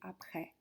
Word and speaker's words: après: On dit après, mais attention, c'est bien un accent grave qu'on a. Donc en réalité, on devrait plus prononcer après.